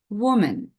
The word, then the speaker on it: woman: so we spell it with a and we pronounce it as woman woman woman woman right when we speak about